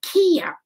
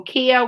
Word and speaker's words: kea: this time i'm going to introduce you to kia i wonder if the kids at home have